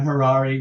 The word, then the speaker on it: Harary: my name is Harari rhymes with Ferrari that's how I remember how to say my last name um I grew up